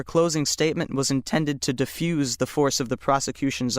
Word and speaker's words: diffuse: If word nine is being used as a verb meaning to spread widely, it is pronounced diffuse. Diffuse.